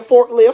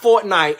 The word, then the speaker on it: Fortnite: Why was you up late last night playing forklift? Fool, it's pronounced Fortnite.